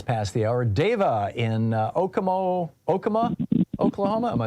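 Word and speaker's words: Okemah: Deva in Okama, Oklahoma.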